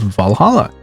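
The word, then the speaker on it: VA-11 HALL-A: know what I mean the name sounds silly and a bit hard to pronounce good thing it's actually called valhala funny numbers and letters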